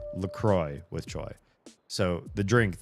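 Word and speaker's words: LaCroix: as the French word the cross, which is Laqua. It's not pronounced that way. It's pronounced LCroy.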